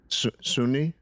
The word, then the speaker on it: Sunni: gotcha I liked how you said that what Sunni Sunni yeah yeah that's how you say it